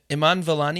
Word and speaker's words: Iman Vellani: Like, even just the actress Iman Vellani, am I pronouncing that correct?